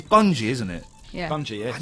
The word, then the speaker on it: Bungie: rubbish wouldn't it no it wouldn't be bungy it will be bungi bungi that's worse still be but it's not very good I'm yes they've made the right decision pronouncing it Bungie so uh bungi have